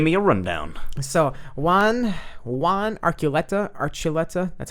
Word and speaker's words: Archuleta: So Juan Archuleta, that's how you pronounce it. Archuleta.